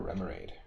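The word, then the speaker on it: Remoraid: or potsky you've got my chop artillery or remorad is how you pronounce it okay interesting which one is a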